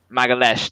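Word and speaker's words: Magalhães: I think I've pronounced that right or wrong. Magalhaes, there you go.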